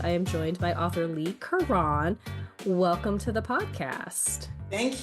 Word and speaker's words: Leigh Carron: And for this episode, I am joined by author Lee Kuran. Welcome to the podcast. Thank you. Glad to be here. And I did pronounce that right.